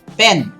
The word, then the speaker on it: pen: Pain, P-A-I-N, pain, P-A-N-E, and a quick one, pen. That's a short vowel.